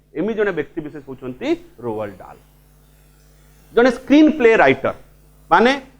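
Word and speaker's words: Roald Dahl: बुझाउची अक्षर जनरेट होतबा शब्द को बुझाउची एटा साइलेंट डाल नुहे है कि डाहाल नुहे ठीक अच्छे इट्स रोअल्ड डाल मन रहा कथाटी इट्स रोअल्ड डाल ही इज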